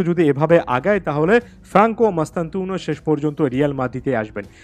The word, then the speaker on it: Mastantuono: দিতে পারবেন প্লেয়ারটার নাম ফ্রাঙ্কো মাস্তানতুনো যেটাকে অনেকে মাতান্তুনো হিসেবে প্রোনাউন্স করেন যিনি কিনা বর্তমানে রিভার